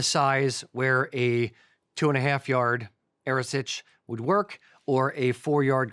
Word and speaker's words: Earasaidh: Now, the Earasaidh, it's just for everyone out there, Earasaid, Earasaid, in Gaelic is Earasaidh. We were corrected on that recently, and we are trying our very, very best to say it properly.